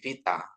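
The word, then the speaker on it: βήτα: Ini beta ini jadi V ya. Jangan sampai beta lagi gitu ya. Tapi vita ya.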